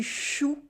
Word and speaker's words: chou: Je vais manger du chou with the OU sound.